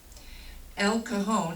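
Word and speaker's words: El Cajon: Christ 1114 North 2 SE n d Street El Cahone that's spelled capital e l and then new word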